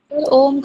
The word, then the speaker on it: ओम: इसमें तीनों ही मिलता है, तभी तो ओम का उच्चारण ऐसे नहीं होता, तीनों ही आते हैं इसमें। माँ मुंह बंद करके, आ ओपन माउथ।